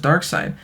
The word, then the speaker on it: Darkseid: series I'll be covering Thanos versus Darkseid (pronounced "Dark Side").